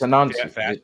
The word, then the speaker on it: Anansi: When you guys say Anansi, it sounds like you're literally saying a Nazi.